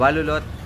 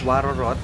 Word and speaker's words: Warorot: Yun walolot pag binasa mo siya guys is Waroorot pero ag yung tamang pagbigkas daw is walolot.